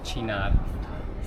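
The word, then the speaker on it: Cynar: How do you spell it? Uh c y n a r, Chinar.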